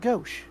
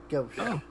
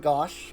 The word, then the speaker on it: gauche: well oh gauche ghost pronounced gauche ghosh upon finding the word honestly i also would have assumed gosh because it was a you so g-a-u-c-h-e yeah i don't hear crap i got a dirty 20.